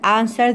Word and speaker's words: answer: عنا listen and answer the questions. إيش يعني listen يا أول؟ يعني استمع. And و answer حكينا. W تكتب ولا تلفظ. Answer. والإي كمان يعني خفيفة.